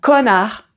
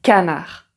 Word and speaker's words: canard: Mais attention, tu as connard et canard connard. canard.